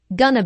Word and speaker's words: gonna: Notice how this is pronounced like gonna be. Instead of 4 syllables, going to be, there are 3 syllables, gonna be.